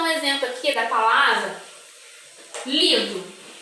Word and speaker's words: livro: Vamos dar um exemplo aqui da palavra livro. Quando eu falo a palavra livro, qual é a sílaba que eu falei com mais intensidade, com mais força?